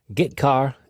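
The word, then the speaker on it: getchar: i o functions are git car and put car that's how i pronounce them git car fetches a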